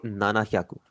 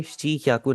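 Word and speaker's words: ななひゃく: 700 को आप बोलेंगे नाना ह्याकू। कभी भी आपने इसे शी ह्याकू नहीं बोलना।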